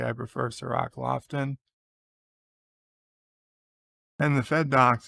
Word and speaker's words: Cirroc: yes richie poole i did say i prefer sir rock lofton and the fed docks is berta pray